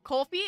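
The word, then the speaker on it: Ko-fi: very concerned about it K Kofi it is Kofi okay I will pronounce it K Kofi then hot dogs get your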